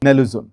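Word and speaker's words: naloxone: एन ए एल ओ एक्स ओ एन ई। इसको सही से यही प्रोनाउंस करते हैं तो नेलोजोन।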